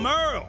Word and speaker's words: Merle: I'm Merle. Spelled like Hurl, warlock of the Seventh Day Left, practitioner of the fiery arts.